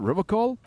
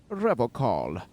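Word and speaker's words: Revachol: He pronounces Revol with a hard K, unlike other people. You said Revacol.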